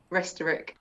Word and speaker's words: Restorick: Restorick.